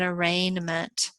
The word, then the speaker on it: arraignment: But whichever path we follow here, we're going to have an arraignment. In this case, the G is silent.